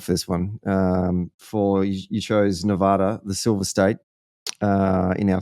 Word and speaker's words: Nevada: So first key about Nevada is that only if you are not from Nevada do you pronounce it Nevada.